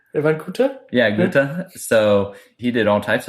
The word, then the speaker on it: Goethe: Well, you probably can pronounce that one right. Van Goethe? Yeah, Goethe.